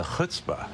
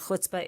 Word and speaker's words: chutzpah: Don't say chutzpah, which is something Sarah Palin said. Try to say chutzpah. Anyway, it just means nerve, right? And the quintessential, if you're trying to understand what chutzpah is, for folks who